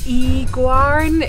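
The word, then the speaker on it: Y Garn: one over there is pronounced as like Igwarn. It's a Y and then G-A-R-N on the screen, but we're not going to go up to that one today.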